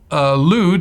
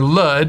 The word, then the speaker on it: Lud: elim asher arfak sad lewd or lud as some people pronounce it and adam and of